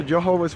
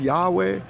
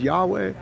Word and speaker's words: Yahweh: and the real pronunciation real pronunciation of Yahweh is uh not Jehovah it is Yahweh or it is the YH wh however you might uh vow that out and uh that's important